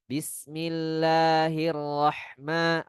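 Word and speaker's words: بسم الله الرحمن الرحيم: Bismillahirrahmanirrahim atau ada sebagian yang bacanya dengan Hiu Rahma ya, Niu Rahim. Itu adalah bacaan yang salah.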